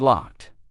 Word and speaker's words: locked: But between these three verbs, we either pronounce the ed ending as a d or a t. Grabbed. Grabbed. That's the d ending. And locked. Locked. That one has the T ending.